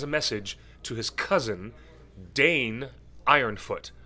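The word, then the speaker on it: Dáin Ironfoot: message to his cousin danne ironfoot sometimes it's pronounced da in and he is the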